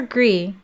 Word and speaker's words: Gris: Is it Gris or Gree? How do I pronounce this game? I need to know before Tuesday. Mario 3D World? Yeah, not my style, but you know, if that's what her community wants, that's what her community gets. You've always pronounced the S? Okay, so Gris. Gris it is.